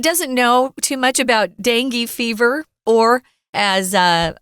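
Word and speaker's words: dengue: know too much about dangi fever or as uh I I was listening to different pronunciations of this word you could also say uh dungi or Danga Danga there are so many different ways so be prepared you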